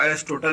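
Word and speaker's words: Aristotle: Okay, English में इसको एरिस्टोटल लिखा जाता है तो गलती नहीं कर लेना। ओके, यहाँ पे एल साइलेंट होता है।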